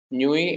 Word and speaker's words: nuit: Nuit and night, they sound similar. It's bonne nuit is good night. Nuit, N-U-I-T is not pronounced, so it's bonne nuit.